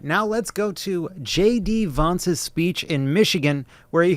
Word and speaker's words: Vance: All right, now let's go to JD Vance's speech in Michigan, where he goes, I gotta stop doing it, it's so stupid. Vince?